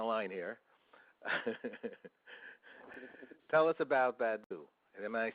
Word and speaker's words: Badoo: Tell us about Badoo. Am I saying it correctly? B-A-D-O-O.